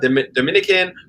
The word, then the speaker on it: Dominica: They'll say Dominica, Dominican. We are Dominica. And it's pronounced like that as well. Dominica. So Dominica. It's almost like for French people, it's like Dominique.